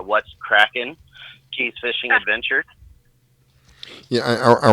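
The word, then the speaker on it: What's Kraken: It's called What's Crackin'? Keys Fishing Adventure. Yeah, I wanted to get that again. Can you spell it out for me?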